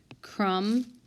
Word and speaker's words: crumb: this is the sounded crumb and crumble you hear the ba in the crumble but you silent in crumb how about design and